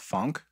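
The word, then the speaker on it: phonk: I find, like, over the last couple of weeks, I've really been bumping a lot of a genre called funk.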